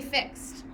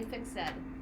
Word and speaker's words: fixed: were with the rhythm you don't actually say fixed it's supposed to be drawn into two syllables so what would we say it's done yeah so in shape the shakespeare sauna read correctly should actually say fick said an ever fix said mark will you be